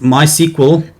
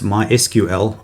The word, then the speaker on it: MySQL: you go whereas with my sequel sorry i should actually say it's mysql that's the correct pronunciation mysql and the postgresql you